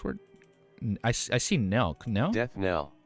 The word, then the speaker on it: death knell: Deaf Canal? Deaf Canal. How do you say this word? I see Nell. Canal? Death knell. Oh, just the K silent.